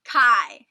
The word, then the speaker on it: Chi: i'm sorry for this is it pronounced chi it's kai but it's not that